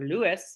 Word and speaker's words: Louis: Danette Peavy, Gabrielle Pierre-Louis, or Lewis is how you say it, Louis, Tiffany Rawls, Nancy